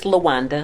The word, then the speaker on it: LaWanda: Our response was, LaWinda said, try, did I pronounce that right, LaWinda? Oh, it's LaWanda.